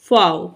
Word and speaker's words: Pfau: हैं जिसका टाइटल है रुत फव पी इसका साइलेंट होता है यह एक फेमस पर्सनैलिटी